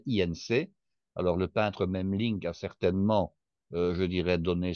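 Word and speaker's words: Memling: c'est le même link le même Link qui s'écrit M e M L i NC alors le peintre mem link a certainement je dirais donné son nom à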